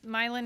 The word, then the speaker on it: Milan: Governor Whitmer let everybody know it is pronounced Milan, not Milan in her State of the State address, so I was thankful for her.